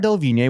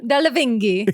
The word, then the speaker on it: Delevingne: Cara Delevingne, which is funny because I thought she was Oh.